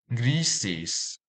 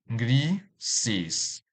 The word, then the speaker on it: grises: Grises. This word has 2 syllables. Grises. And the stress is on the first syllable, since it has S endings.